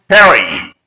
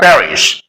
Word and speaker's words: Paris: pronunciation is Comm so in the same way you may pronounce Perry not Paris but there is no uh composion that you have to pronounce Perry because English people pronounce this word Paris next Point number three